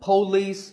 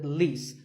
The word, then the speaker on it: police: number six is police this isn't police or polis it's paw and police with the stress on lease so police the next